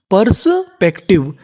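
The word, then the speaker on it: perspective: टी आई वी ई अगर आपको English में कहीं पर टी आई वी ई लिखा मिले तो आपको उसका उच्चारण करना है टिव ये भी हमारा कोड होता है टी आई वी ई को हम लोग पढ़ते हैं टिव तो मीनिंग क्या बनी?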